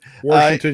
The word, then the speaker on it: Washington: Washington. You got to say it like you're from Pittsburgh. You got to put the R in there.